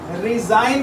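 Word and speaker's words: resign: दोबारा सुनिए, ये वर्ड रिज़ाइन यानी इस्तीफ़ा और ये वर्ड रीसाइन यानी दोबारा दस्तखत, इन दोनों के स्पेलिंग सेम है, लेकिन साउंड प्रोनंसिएशन, साउंड प्रोडक्शन और इनके मीनिंग में फ़र्क है।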